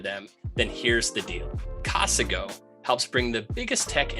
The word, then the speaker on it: Casago: off, this episode is brought to you by Casago. And if you haven't heard of them, then here's the deal. Casago helps bring the biggest tech and strategy to